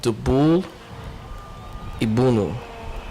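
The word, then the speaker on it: Dubul' iBhunu: So he was saying that they are openly pushing for genocide of white people, because the song is basically it's called Dubul Ibunu.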